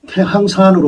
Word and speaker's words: 태항산: 이것을 저는 태항산으로 배웠습니다. 태항산이라고, 태항이라고 읽는 경우가 많습니다.